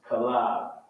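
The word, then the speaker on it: כָּלֵב: Caleb. In Hebrew, is Kalab. Kalab.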